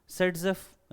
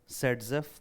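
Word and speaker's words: Zaitsev: कहते हैं, या फिर सेटजेफ उसे प्रोनाउंस करते हैं, जैसा एनसीईआरटी ने लिखा है कि हम इसे जेटसेफ लिखते हैं एंड प्रोनाउंस करते हैं सेटजेफ, मतलब ऐसा प्रोनाउंस करते हैं।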